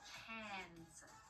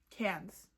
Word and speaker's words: Cairns: Instead of saying hair, we want to stop the pronunciation, keep our mouth open. Cairns. Okay. Cairns. It's Cairns, guys.